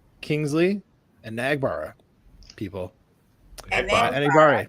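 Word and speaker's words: Enagbare: Most people pronounce his name correctly now, which I'm very happy about. Kingsley and Nagbara, people. Enigbara, Enigbare. not Enigbara.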